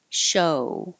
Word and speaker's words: show: Shoe, show. Remember the American O being 2 parts.